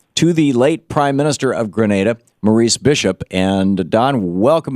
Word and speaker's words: Grenada: have you with us first of all am i pronouncing Grenada right you up around Grenada right you're absolutely correct it's not Grenada no the city in space it's great NATO yes okay so see so if you want